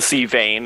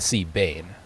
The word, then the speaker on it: Sea Bane: The Sea Vane, is that right? The Sea Bane. Bane, okay.